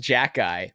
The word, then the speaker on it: Xhekaj: Last name's pronounced Jackeye, but it's spelled XHEKAJ.